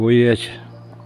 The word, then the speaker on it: Оять: Там впадает речка Шокша в Уять. Это вот Уять у нас. Местное ударение делают на букву Я.